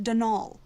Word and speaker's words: Donal: not Donald mind you there's no D at the end so it's pronounced dnal that's the way you're